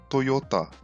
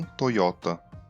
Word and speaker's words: Toyota: Portanto, em japonês a pronúncia é Toyota, não Toyota.